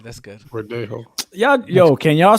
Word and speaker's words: Verdejo: Felix Verdejo. That was close. Verdejo. How you say it? Wow. Yeah, that's right. That's good. Verdejo.